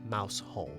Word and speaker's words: Mousehole: While there are many theories on the origins of its name, there is only one right way to pronounce it, and this is Mousehole, not Mousehole.